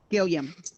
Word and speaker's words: Gilliam: pronounce your name correctly just as if you were to say william but with a g okay gilliam correct all right yep